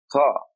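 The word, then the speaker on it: طاء: The next letter is a heavy T. It is called Ta. Ta. We represent it with a T and a dot under it.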